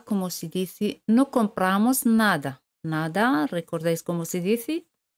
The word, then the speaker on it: n'a: Se elimina la letra E. Se dice na.